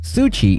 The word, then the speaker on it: SU7: event a month ago the xiaomi su7 pronounced sui in Chinese is a sedan based on